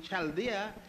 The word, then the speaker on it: Chaldea: It is spelled U-R, Ur, and Chaldea is spelled C-H-A-L-D-E-A.